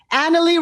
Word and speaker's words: Analie: I have an explanation how to pronounce my name ah analie rhymes with family thank you that's my